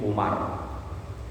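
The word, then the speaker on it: عمر: Wa ani bin Umar radhiyallahu anhuma, nah ini bacanya Umar, kalau tadi Amr.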